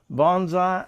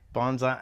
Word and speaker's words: Bondseye: I know when people say, check out Bonsai 66, you think it's spelled BONSAI or BONZAI. BONDSEYE. My last name is Bond. Added S. I build stuff with my eyes.